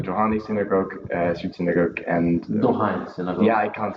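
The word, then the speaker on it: Dohány: And then I heard of the Johani synagogue, street synagogue, and Dohani synagogue. Yeah, I can't pronounce it. In España, Dohani. Dohani street synagogue. It's written not with an N like this, but NY. Dohani street synagogue, and that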